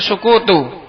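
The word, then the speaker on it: سكوت: Ma'afada faidatan tamatan yahsunu sukutu, bacanya itu sukutu.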